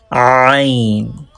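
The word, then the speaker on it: ع: But Ain pronounced from middle part of throat. Ain pronounced from middle part of throat, and middle part of throat is origin of Ain. Ain.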